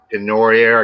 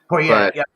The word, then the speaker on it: Poirier: And I think it's Poirier. I can't pronounce his last name. Poirier, yeah, Poirier, that's going to be an excellent match.